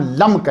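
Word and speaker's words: لمك: हजरत नूह अलैहिस्सलाम के वालिद का नाम लम्क है। तबकात इब्न साद ने यही तलफ़ुज़ प्रोनाउंस किया है।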